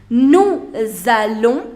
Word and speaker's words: nous allons: Nous allons, liaison. Hein? Nous allons. Nous is ending with a consonant and allons is beginning with a vowel. So therefore S has to be pronounced.